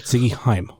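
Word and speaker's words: Ziggy Haim: wheeler yuda and ziggy i don't remember if i'm pronouncing this right heim believe it ziggy heim right yes that's correct okay so the jewish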